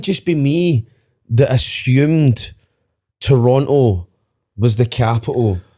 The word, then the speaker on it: Toronto: And by the way, if you do go to Toronto, don't apparently they don't like you pronouncing the second T. It's Toronto. Toronto.